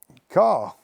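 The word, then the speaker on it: Carr: Car. I come here this morning in a car, and that is my surname, although it's spelt with 2 R's.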